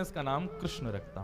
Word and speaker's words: कृष्ण: ऐसा एनालाइज है कि कृष्ण शब्द का उच्चारण अधिकतर लोग अशुद्ध करते लोग या तो किशन बोलते हैं या कृष्ण बोलते हैं मतलब जो भी बोलते